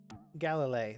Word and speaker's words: Galilie: How do I pronounce this character's name? Galilie.